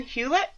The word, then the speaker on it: Hewlett: here because of my massachusetts roots i don't pronounce anything like you're supposed to um but hewlett that's right c c some names i get